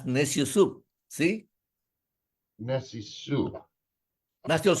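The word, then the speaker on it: Neciosup: He says, pronounce very fast, nasty old soup. Nasty old soup. That's necio soup.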